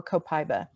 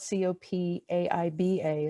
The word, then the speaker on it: copaiba: either be frankincense or copaiba and it's it's spelled co Pai BA it's actually pronounced I guess in most countries where it's grown copaiba but copaiba is easier and those would be